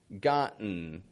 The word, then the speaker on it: gotten: In all those words, they're all 2-syllable words. The first syllable is strong in them. The vowel's pronounced fully. Whereas in the second syllable, it's just kind of an n sound. And the T, which you would think T's like it's a consonant and it's supposed to be pronounced, again, fully, we don't pronounce it.